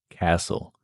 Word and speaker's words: castle: You've probably seen it in words like listen, castle, fasten, whistle, moisten. And all these words, the T is completely silent.